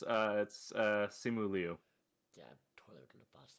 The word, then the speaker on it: Simu Liu: As when I played Shang-Chi, Yeah, it's Simu Liu.